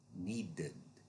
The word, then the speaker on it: needed: It's only a separate syllable if the root word ends in a d or t. For example, needed.